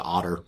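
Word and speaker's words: Ottar: saying his name correctly say it closer to Otter but otter it's fine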